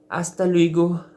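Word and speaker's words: hasta luego: और आस्ता लुइगो आप लोग नोट करें, जो एच है वो साइलेंट हो जाता है। अब पहले ओला था, होला नहीं पढ़ रहे हैं, हेलो का ओला, ओला पढ़ रहे हैं।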